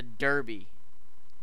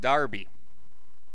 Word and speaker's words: derby: County what is a derby Jake first of all it's pronounced Darby and the Darby is